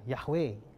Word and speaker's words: Yahweh: Makanya kita kenal nama Tuhan itu kita bilang Yahweh. Itu bacanya. Tapi kalau tulisnya YHWH, Yod He Waw He.